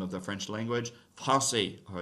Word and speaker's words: Français: That just turns a C into a soft C sound, makes an S sound, right? So like in the word for the name of the French language, Français, or it's an adjective